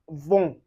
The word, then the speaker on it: vent: Anyway you see en or em, you pronounce it as on. And you can see it in word like vent.